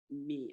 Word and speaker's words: mi: refers to the note me I'm going to say that the i in here is pronounced like an e so it's m i